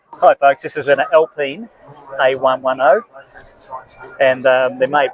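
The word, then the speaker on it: Alpine: this is a hi folks this is an elpine A110 and um they're made by uh Reno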